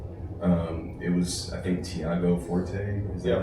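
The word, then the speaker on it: Tiago Forte: Um it was I think Thiago Forte.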